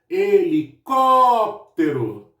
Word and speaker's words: helicóptero: Helicóptero. Helicóptero. Então, o có acaba sendo a minha sílaba mais forte. Caju.